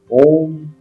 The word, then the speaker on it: ओम: पहले औ अंत में जब म का जब उच्चारण करते हैं तो दोनों होठ आपस में स जाएंगे और अ जब बोलेंगे तो मुंह थोड़ा खुला हुआ रहेगा। उ में लिप्स गोल्ड जैसा हो जाएगा और म जब बोलेंगे